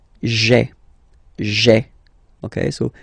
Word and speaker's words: j'ai: you get this sound j'ai, j'ai. Okay, so j apostrophe ai. Remember, when you combine this ai, you get the e sound.